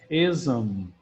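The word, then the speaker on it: -ism: Ism, essa pronúncia aqui a gente pronuncia mesmo zam para cima. É como se aqui tivesse um som em inglês que a gente chama de schwa, ism.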